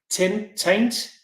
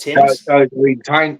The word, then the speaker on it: Tyne: be, and it's the Taint. I would pronounce it just Tint.